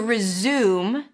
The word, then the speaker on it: resume: Room. It's an R sound, then a Z, and then the U as in food.